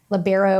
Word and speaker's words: libero: She does the libero or libra depending on how you say it. Um you know different people say different way tracking and scoreboard tracking.